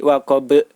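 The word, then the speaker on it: وقب: Sedangkan huruf ba, cara memantulkannya yaitu seperti bunyi huruf E atau E, jadi waqab.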